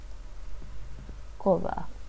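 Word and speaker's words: кого: Kova and chivo is pronounced like v. G is always pronounced v in the genitive endings of pronouns and adjectives.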